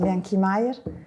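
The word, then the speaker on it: Bianchi Majer: On va prononcer à l'italienne. Bon, je présente, c'est Marta et Lorenzo de l'agence Bianchi Meyer.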